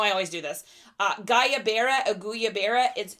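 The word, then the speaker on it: guayabera: but they're like they're called I'm going to butcher the name guys you know I always do this uh gayaa auya Bara g u a y a b e r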